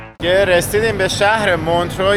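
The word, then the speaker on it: Montreux: کهه رسیدیم به شهر مونترو یا به تلفظ خودشون مونتغ بریم که این شهر نقلی کوچولو موچولوی بامزه رو کشفش کنیم.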